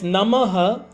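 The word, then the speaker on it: नमः: It is not, then there's Namaha, it does not become 3 syllable. It is still 2 syllable.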